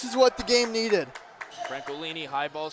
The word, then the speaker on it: Francolini: I want to get that pronunciation right. It's Adam Francolini.